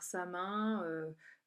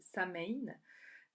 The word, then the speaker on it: Samhain: accueillir la fête de Samin. Voilà, alors Samin qui s'écrit S-A-M-A-I-N ou S-A-M-H-I-N, hein, donc certains disent Samhain.